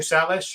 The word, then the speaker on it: Salish: I mean, both Shane and Brian, consulted with people in the area like the Salish and more and all that. Is it Salish or Salish? How do you pronounce that?